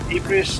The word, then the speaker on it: Ypres: Ypres. I can't pronounce it. Ypres That's it.